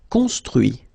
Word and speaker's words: construit: Construire, construit. Cuire, cuit. Détruire, détruit. Instruire, instruit. Okay, so you can notice that even if I put this final T, so as usual, I don't pronounce it.